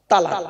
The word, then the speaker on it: তালাক: একটা শব্দ বলে কি শব্দ বলেন তো বাবা তালাক বলে না বলুন বলুন আরে বউ যাবে না ভয় নেই আমি আছি এখানে চিন্তা নেই বউ এনে দেবো আবার কি বলেন তালাক তালাক তাইতো খবরদার ওটা বলবে না তালাক নয় শব্দটা শব্দটা তালাক নয় বাবা শব্দটা কি